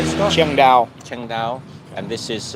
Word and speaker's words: Chiang Dao: Chiang Dao.